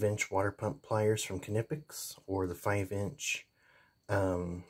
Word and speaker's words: Knipex: tool is here both tools are made by canipix k-n-i-p-e-x they just pronounce it canipix if you go to their website they have